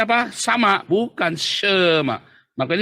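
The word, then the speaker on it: שמע: Maka bacanya bukan sa, tapi jadi sh, ya. Terus ini di bawahnya mimnya ada patahnya, maka bacanya Shema.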